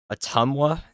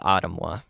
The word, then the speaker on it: Ottumwa: it in on Google the lady says autumn so somebody better fix that pretty soon type in the type in a tumwa pronunciation she'll say it wrong somebody's got to fix